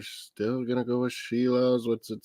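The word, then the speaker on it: Šilovs: Artur Shilovs. Shilovs. That's how they pronounce it.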